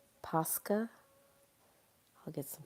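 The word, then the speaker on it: Posca: It's pronounced Pusca. I'll get some Pusca markers.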